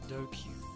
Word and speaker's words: DQN: DQN. Net slang used in the 2000s. Pronounced Dokyu.